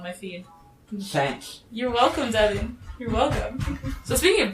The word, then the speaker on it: Divine: It's pronounced Devin. Okay. I'm so sorry. I've been saying it wrong this whole time.